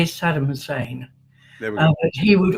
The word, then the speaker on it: Saddam Hussein: We we would say Saddam Hussein.